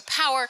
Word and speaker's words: Power: Pour is just very French and doesn't rhyme with anything, so you just move past it very quickly and move on to power, which is a perfectly good English word.